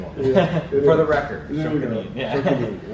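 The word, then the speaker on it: 職人: First of all, is this philosophy, this pronounce it for me. Shokunin. I knew that. It's an interesting one. Yeah, For the record, Shokunin.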